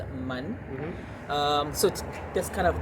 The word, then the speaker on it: Man: It's like Man, but in Malay we pronounce it as Man.